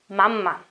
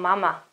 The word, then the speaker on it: mamma: Mamma. Can you hear it? It's different from mama. Mama is wrong. Mamma is correct.